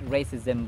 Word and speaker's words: racism: and debilitated by continuous racism belies debilitate racism racism racism the stress is on the first syllable not on the second racism not racism It's racism yada yada William William Do